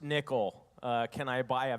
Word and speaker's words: Nykl: went hey uh yeah it's pronounced nickel uh can i buy